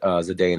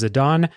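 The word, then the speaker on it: Zidane: guess but uh yeah I sort of pronounce it Zan as well okay well fair enough I mean I'm not going to tell you to tell anyone to change the way they pronounce a name but um the way that I always said it was zadon uh so zidon is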